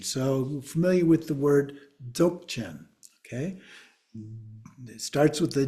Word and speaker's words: Dzogchen: So sometimes it's actually pronounced as Dzogchen. Okay, either way. Another factor is that D. The D generally is not considered a part of the pronunciation, but in English, we often just pronounce it as if it starts with the Z, the Dzogchen, but it